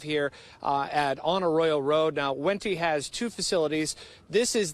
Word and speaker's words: Wente: how to pronounce it, you see it W-E-N-T-E. It's Wenti, like in venti coffee.